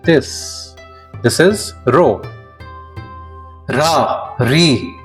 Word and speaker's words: ロ: This is ro.